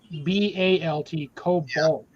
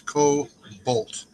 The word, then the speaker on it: Kobalt: Actually, it's KOBALT, Cobalt. It's a weird pronunciation. Here. It's Cobalt.